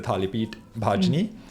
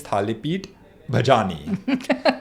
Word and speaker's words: Thalipeet Bhajni: My mother likes telling this story where one of our products, the Thalipeet Bhajni, she says that Siddharth, when he first encountered it, pronounced it as Thalipeet Bhajani, which is a blatantly untrue story, but still one that she likes to utter.